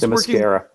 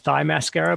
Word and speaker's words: Themyscira: name of, and she's Themyscira. working. Themyscira? Themyscira. Okay, and do you think it's pronounced differently, Andy? No. I always called it thigh mascara, but I knew that was wrong.